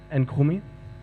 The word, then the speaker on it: Nkrumah: It is the museum of the former president of Ghana, Nkrumah. Do I pronounce that right?